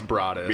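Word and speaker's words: Broaddus: Derek and Maria Brodus. Yeah, it's weird. Yeah. I thought of all different ways to say that shit until I figured it out. It's Brodus.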